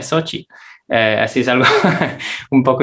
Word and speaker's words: Xochitl: De hecho, si uno le dice a una persona así, un placer, Xochitl, y te va a corregir, se pronuncia Xochitl.